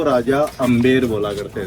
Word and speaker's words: Amber: वो इसलिए बोला जाता है अंबर पैलेस क्योंकि स्पेलिंग है AMBER। अच्छा। तो जब अपने देश में ब्रिटिश टाइम था तो ब्रिटिशर्स ने उस स्पेलिंग को प्रोनाउंस किया है अंबर।